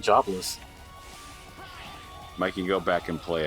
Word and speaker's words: Jobless: Jabba's reincarnation was today why do you always say it like Jabba's reincarnation what do you mean how is how you supposed to say it's supposed to be jobless reincarnation but he keeps saying Java's is in like Jaba